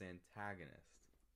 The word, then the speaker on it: antagonist: The stress is on the second syllable, so it's antagonist.